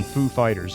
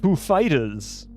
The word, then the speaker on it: Foo Fighters: You just have to put in a random pause, then emphasize the next syllable. Exactly! I mean, he knew exactly what he was doing. It's the Foo Fighters. Yeah. Join me in welcoming Foo Fighters.